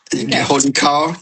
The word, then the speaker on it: Wholly Kaw: It's literally, it's pronounced the way it is written. Holy Cow, K-A-W, Cow.